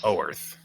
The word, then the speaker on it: Oerth: I think we're saying it wrong. I say Arth. lots of things wrong. Yeah. Arth. Our word. Arth. Arth. Oh, Arth. Oh, where's? Oerth. Oerth.